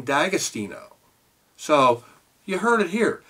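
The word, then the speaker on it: D'Agostino: first I heard this I've always pronounced it Di austino and apparently uh Diamond I was talking with and and said you know you pronounced my name dagostino so you heard it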